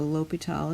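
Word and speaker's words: L'Hôpital: called a l'hopital's rule it looks like l'hospital's rule but the S is not pronounced and this is a French name so l'hopital is how we say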